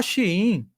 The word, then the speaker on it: Shein: O pessoal fala Shein é a pronúncia certa, mas para o pessoal identificar da Shein, né?